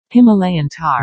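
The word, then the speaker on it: Himalayan tahr: for the Indian variant, so I picked the Himalayan Tar as the inspiration. I'm assuming that's a correct pronunciation? Let me check. Himalayan tar.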